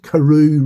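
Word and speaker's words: Karoo: And that karu, sorry, we're getting back to that's a shortened it's an abbreviation version of where they're from in South Africa.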